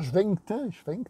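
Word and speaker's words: Schwentke: Le réalisateur, j'ai mal prononcé son nom, il s'appelle Robert Schwenkte, c'est un Allemand, qui a réalisé Raid, donc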